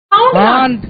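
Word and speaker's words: haunt: Hunt. Hunt. Hunt. Hunt. Hunt. Hunt. H-A-U-N-T. You will be silent here. Hunt. The pronunciation is hunt.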